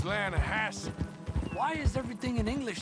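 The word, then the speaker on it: Lannahechee: Yeah, but it's pronounced Lanahasse.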